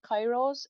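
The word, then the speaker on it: Kiros: they were originally called i'm going to pronounce it like cairo's it's k-i-r-o-s okay and then not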